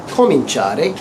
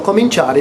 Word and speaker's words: cominciare: For cominciare, again we drop that I at the end of cominciare. That I-A-R-E sound. We drop the I to maintain that soft C sound. So cominciare becomes io comincerò.